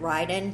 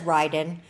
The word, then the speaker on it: Ryden: I would pronounce it Ryden, but that's not how you pronounce it because she's from Sweden. There's a different pronunciation. But she says Ryden.